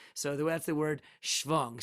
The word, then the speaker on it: Schwung: So that's the word schwung. Spell it like you like. Put a C, silent C, not a C. Schvung from the word schwing, which I think in the English became swing.